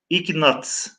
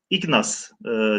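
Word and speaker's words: Ignác: akademiyası azasından müderris Doktor ignat ignas diye okunuyor t'yi telaffuz etmiyoruz ignas konuş Evet bir Macar macarlar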